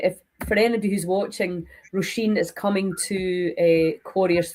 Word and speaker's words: Róisín: Róisín? Róisín. Róisín, yeah. There's a few different ways to say it, isn't there? Um There is. Um Yeah, if for anybody who's watching, Róisín is coming to uh Corryvreckan Festival.